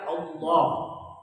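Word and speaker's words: الله: ilmu ee bunyi bahasa lafaz Allah itu kan dibaca asalnya dengan tafkhim ya Apa itu tafhif tebal dibaca Allah Iya kan ah kapan dibaca tafkif eh takfif tipis murqa tipis dia kalau sebelumnya kas kasrah kalau sebelumnya fathah dan dah dibaca tebal kalau sebelumnya kasrah dibaca tipis tipis itu bermakna ringan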